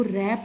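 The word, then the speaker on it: wrap: के इसमें साइलेंट होता है। आई was knitting and आई हैड टू रैप a gift of माय डैड।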